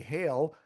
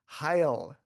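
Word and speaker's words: Ha'il: I started was Hail, which looks like it would be Hail, Mhm. Saudi Arabia, but apparently it's pronounced, yes, I'm saying how it's pronounced according to them, Hail is how it's pronounced. It's pronounced Hail.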